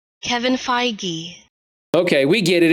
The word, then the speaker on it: Feige: madman says there's a video on how to pronounce his name we're gonna watch a Kohl's ad first though Kevin feige Kevin feige feige Kevin feige I'm gonna stick